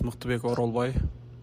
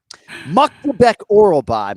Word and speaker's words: Myktybek Orolbai: My name is Miktabek Orolbai. My name is Miktabek Orolbai. Muktabek. Ah, interesting. He could have said his name 30 times in the time it took Nacho to say his name. Muktabek Orolbai, man.